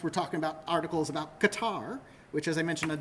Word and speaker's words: Qatar: Q doesn't appear too often, unless we're talking about articles about Qatar, which, as I mentioned on Discord last night, we somehow are able to read Qatar, right?